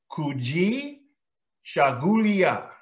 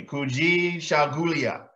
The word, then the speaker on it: Kujichagulia: one I've been hard having a hard time pronouncing it myself kui shulia kui shulia say it with me kui shulia it means self-determination speaking for yourself and making